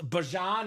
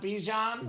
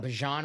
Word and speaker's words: Bijan: Yeah, So he wants it to be pronounced Bajan, not Bijan. Bajan Robinson, yes.